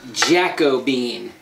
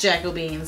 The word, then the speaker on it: Jacobean: of it she's using Jacko beam and so we've had a couple of people tell us that it is pronounced Jacobean so Jacobean Jacobean whatever